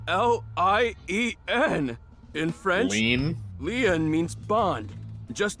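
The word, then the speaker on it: Lien: Leon is spelled L-I-E-N. In French, Lean?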